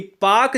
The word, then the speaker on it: Palk: वाला नहीं है, यह पाक जलसंधि PALK को हम पाक कहते हैं। ठीक है ना, इसमें यल साइलेंट होता है।